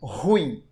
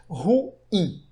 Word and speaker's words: ruim: muito comum a gente ouvir as pessoas pronunciando essa palavra como ruim, como se fosse um monossílabo, como se fosse um ditongo. Não, não é um ditongo, ela é um hiato. A pronúncia correta é ruim.